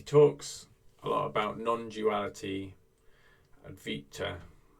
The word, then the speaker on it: Advaita: He talks a lot about non-duality, Advaita. I think the V is pronounced like a W actually, Advaita Vedanta.